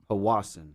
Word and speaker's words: Powassan: No, I looked it up. That's how you pronounce it. Right. Powassan.